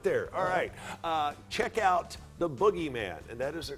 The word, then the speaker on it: Bookgeyman: - nailed it there alright check out the boogieman and that is the correct pronunciation it is the boogieman actually at a bookstore near you